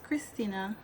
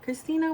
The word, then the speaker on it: Christina: most of the time, since the H is silent, people don't use the H when they spell my name.